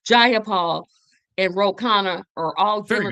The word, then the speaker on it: Jayapal: So all the DSAs like Bernie Sanders, AOC, Jayapal, and it took me a while to pronounce her name right. Jayapal and Rokana are all very good.